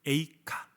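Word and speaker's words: איכה: 에이카. 히브리어는 에이카고 우리나라 말로는 애가고, 발음이 되게 비슷하죠.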